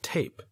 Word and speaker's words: tape: we would pronounce it tape the letters make these sounds t a p we don't pronounce the e at the end of the word tape all the e does